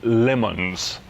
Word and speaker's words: Le Mans: blue okay so it's basically French John it's pronounced lemons and it blew up after just 55 000